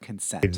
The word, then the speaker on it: consent: But let's go back and hear that word again with stress on the second part, consent.